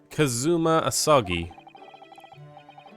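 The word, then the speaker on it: Kazuma Asogi: It's pronounced Kazuma Asagi.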